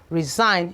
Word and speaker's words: resign: resign, you can see that no G was pronounced, okay?